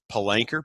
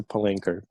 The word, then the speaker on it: Palanker: can find you on linkedin at pasha p-a-s-h-a palanchor p-a-l-a-n a-k-r-e i'm sorry i butchered that my friend i have butchered that